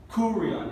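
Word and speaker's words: κύριον: Recuerden que esta no se pronuncia P, sino como R. Kurion. Y si ustedes quieren decir el R español, está bien, pero yo voy a decir R, como en inglés.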